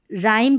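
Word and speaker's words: rhyme: Next देखिए आर और एच में, जैसे कि आर के बाद में एच रहता है तो वहाँ पर भी जो है एच साइलेंट रहता है। आर का उच्चारण क्या होता है, आर का साउंड र होता है, तो बस आर को ही, र को ही हमको प्रोनाउंस करना है। यहाँ पर इसको राइम करके प्रोनाउंस किया जाता है, ठीक है।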